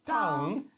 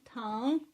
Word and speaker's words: Tang: It's not tongue. It's tan. Tang. Right? Zhang. Is exactly the same Tan sound.